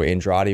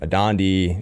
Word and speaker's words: Andrade: they call it roll so Andrade would become a Don dee and de Andrade and to Hays you